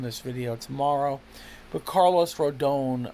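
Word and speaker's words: Rodón: But Carlos Rodon, and you do say his name like Rodon, I believe. Some guy from Puerto Rico called up the fan and said, if you say it like Rodon, you're basically saying it like if you're not Hispanic. He's Hispanic. I believe he's Puerto Rican. So people from Puerto Rico and Hispanic countries will say the name like Rodon.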